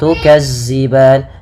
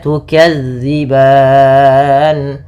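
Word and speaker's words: تُكَذِّبَانِ: Jangan tukazziban tapi tukzi. Bagaimana cara melafalkannya? Ujung lidah. Ujung lidah menempel dengan gigi seri atas. Gigi seri atas. sehingga dia pelafalannya terdengar dza bukan za dza bukan za maka tukadziban kemudian pada lafal ban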